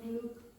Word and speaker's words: Luke: Like, for example, I don't distinguish between those two vowels. Say those two words for me. Look. Now listen to the way I say it. Look, look. Now, I promise you, what you What's the did, difference between the name of Luke? this is different for me. I would say Luke. Luke for this.